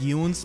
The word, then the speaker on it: Yune: So I think I'm going to stick with that, because Yune sounds like June, and it's not June yet, it's still March, so it doesn't make any kind of sense.